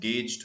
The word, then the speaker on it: gauged: pronunciation to mona rakhibok gauged hoy thik ase g a g e d gauged pronounce kora nisina the u is silent gauged boli no poribo